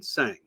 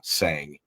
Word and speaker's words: Tseng: fascinating guest with me his name is sang am I saying it correctly the tea is silent that's right that's right um it's uh